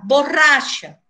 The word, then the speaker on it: borracha: Otra palabra, la palabra borracha. Claro que en portugués, ustedes no pronuncian ese R igual que en español. En español, para nosotros, es borracha. Para ustedes, es borracha.